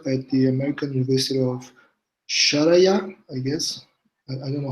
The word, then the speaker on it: Sharjah: Stephen Shan is an assistant professor at the American University of Sharjah, I guess. I don't know how to pronounce it well. Sharjah.